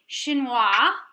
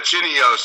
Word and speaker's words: chinois: Would this perhaps be something French, otherwise known as a chinois? Yeah, very good. Did I say it right? Very good. Yeah, some people call it a chinios for some reason, but yeah.